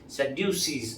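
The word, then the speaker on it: Sadducee: Hallelujah अगर आप अंग्रेजी में उसका प्रोनाउंसिएशन देखेंगे सेडसी ऐसा कहा जाता है। सैड यू सी इसलिए वो सदुखी लोग है क्योंकि वे दुखी है।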